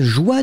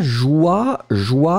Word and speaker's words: joie: Alors la joie, souvenez-vous, on écrit ça J-O-I. E, d'accord. Le E final, bien sûr, n'est pas prononcé.